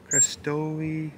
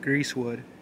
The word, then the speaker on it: Greasewood: Crestowy. I don't even know how to say that. Greasewood. That's how you say it.